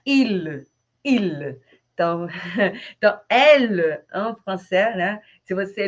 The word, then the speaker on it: elle: Mas as pessoas acham que é ele, E. Não, elle. Então, é o feminino. O masculino é il. Então, então elle, en français, né?